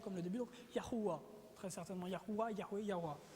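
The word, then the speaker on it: Yahweh: de au complet yhh la prononciation très certainement serait non pas Jéhovah mais serait très proche de yahua vous avez entendu Yahoué déjà ok Yahoué mais ce serait très simplement plus yahua parce que si on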